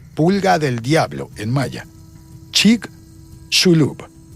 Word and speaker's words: Chicxulub: Chicxulub. La X, según las instrucciones que vi, se pronuncia como sh, así como argentino. Chicxulub.